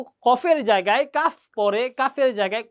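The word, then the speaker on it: ك: কফ, এটা হলো কফ, আর এটা হলো কাফ। কফ, কাফ।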